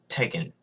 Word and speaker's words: Tekken: has like many variations but it's not like that it's t k k n Tekken how do you mis